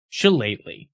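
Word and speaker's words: Shillelagh: Chalet, which yes is how you pronounce it.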